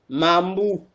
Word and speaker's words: Mambou: Mambou. Ça sonne comme le chocolat mambo hein.